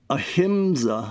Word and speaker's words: ahimsa: And ahimsa, I think is pronounced.